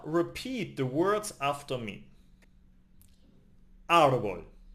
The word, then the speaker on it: árbol: No matter where the accent mark is, that's where the stress is. Listen carefully. I give you 3 examples from my everyday life. Árbol, the tree.